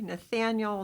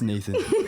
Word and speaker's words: Nathan: And today I have the pleasure of speaking with Abby, Nathaniel, Natalia, and Grayson from Cardinal Gibbons High School. Did I say it right? Just Nathan.